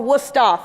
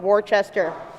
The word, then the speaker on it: Worcester: dojo and my college which is spelled or pronounced Worcester or wora for the locals not w Chester um this presentation is